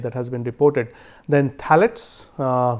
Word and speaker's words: phthalates: Then phthalates, here P is silent, phthalates and flame retardants.